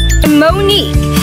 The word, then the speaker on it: Monique: stones called let's rock Monique it rhymes with unique and my team is